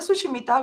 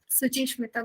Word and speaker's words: Suchismita: So la escritora Sushimita, please correct me if I'm saying your last Yes. name wrong. Suchismita.